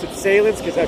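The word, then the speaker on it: Sahlen's: They have the Solons. I guess you have to pronounce it like I pronounce it Salins because I pronounce my A's this way.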